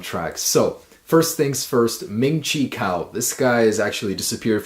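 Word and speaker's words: Ming-Chi Kuo: iPhone 7 a man pronounced his name wrong again it's Ming Chico alright so very first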